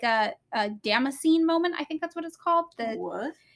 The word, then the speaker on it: Damascene: Yeah, it's Damascene. Oh, Damascene? Our podcast is not about pronunciation.